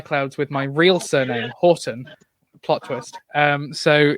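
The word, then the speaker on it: Haughton: Oh, I'm H A U G H T O N, which also means whenever I tell people my name, I have to tell them how to spell it before they start writing. Oh, it's it's like H Hallandale. It is. Oh, like Horton.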